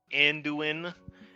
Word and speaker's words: Anduin: Uh Anduin heirlitz.